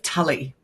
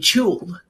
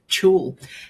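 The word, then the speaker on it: tulle: I said, "You mean chul?" And she went, "Yes." She said, "Is that is that how it's pronounced?" And I said, "Yeah, it's a French word, chul."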